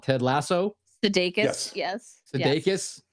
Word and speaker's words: Sudeikis: Sudeikis, how you pronounce?